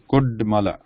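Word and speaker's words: कुड्मल: So here there is no nasal sound. It is a da. This one is da. So it is Kudmala.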